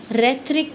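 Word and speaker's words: Hrethric: Then रेथरिक के बारे में बात करते हैं। यहाँ पर एच साइलेंट है इसलिए रेथरिक बोला जाता है।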